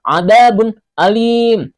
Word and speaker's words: adzabun alim: Cara membacanya juga jelas seperti tulisannya, azabun alim. Bun a, bun a.